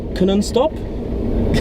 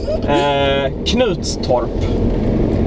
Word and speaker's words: Knutstorp: How do you pronounce the racetrack? Knuttorp? Almost. Really close. Knutstorp.